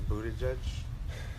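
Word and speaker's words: Buttigieg: yeah it's gonna win again Bernie Sanders a Buddha judge a Buddha judge like who is Buddha judge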